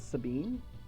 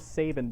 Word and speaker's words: Sabin: No, it's like, it was Sabin, but with an E at the end, so it was Sabine.